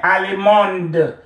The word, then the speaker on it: allemande: Masculine, allemand, féminin, allemande. You add your E and then you will pronounce the D.